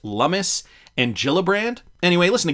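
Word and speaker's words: Lummis: is how he responded about the uh the loomis gillibrand bill which uh now i'm realizing is pronounced lummus and gillibrand anyway listen to gary gensler here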